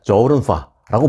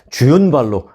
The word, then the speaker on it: 저우룬파: 의 홍콩 탑스타 조은파 우리는 전에 주윤 발이라고 불렀죠 요즘은 그 현지 언어 발음으로 부르는 그런 추세이기 때문에 한국에서도 이제 주인 발이라고 부르지 않고 현지식 발음으로 저른 파라고 부르는데요 오늘만큼은 그냥 주윤 발로 하겠습니다 그래야 이게 좀